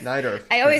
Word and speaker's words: Najdorf: I don't even know how to pronounce that. I always read Najdorf? it, but I don't say it. Najdorf? Najdorf? Najdorf, yeah.